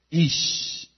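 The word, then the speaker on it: איש: Ahora, hombre en hebreo es ish, y latina SH en la fonética.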